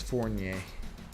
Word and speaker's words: Fournier: It's Fournier.